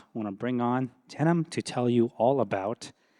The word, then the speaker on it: Denham: My name's Denham, pronounced like the jeans.